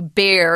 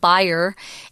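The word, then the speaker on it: Bayer: actually call this company bear in America it's a German company and in Germany they pronounce it buyer and the Chinese is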